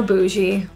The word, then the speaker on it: bougie: expensive designer bags so bougie the gie is pronounced as so this is like an sh with her voice on Bounce this means to